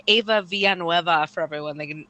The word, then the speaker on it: Villanueva: It would be too hard to be like Ava Villanueva for everyone. They were never able to say it right, or they'd always say Valenzuela or mess it up in some way.